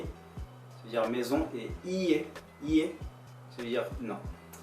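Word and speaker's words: いいえ: Non, non, non, non, non, non, c'est ie, ie, I-I-E. Parce que I-I-E ça veut dire non, mais I-E ça veut dire maison. En fait, quand on dit IE, ça veut dire maison, et IE, IE, ça veut dire non.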